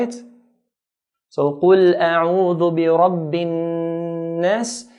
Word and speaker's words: النَّاس: So قُلْ أَعُوذُ بِرَبِّ النَّاسِ. So whenever noon or mim is pronounced, there's a nasalization, a sound from the nasal passage automatically comes with these 2 letters.